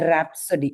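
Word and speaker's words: rhapsody: ராப்சடி okay ராப்சடி.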